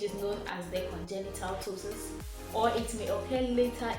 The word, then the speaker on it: ptosis: continue so the topic for today's video is ptosis yeah the spelling's as a key but pronunciation starts with t so it's ptosis what ptosis is actually the drooping off the